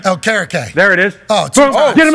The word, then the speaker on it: Okereke: Okereke? Okereke.